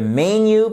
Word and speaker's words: menu: Donc, dans un restaurant, vous pouvez aussi dire could I get the menu, please? Et pas menu, but menu. Vous voyez ici que vous avez l'accentuation sur la première syllabe, et d'ailleurs la syllabe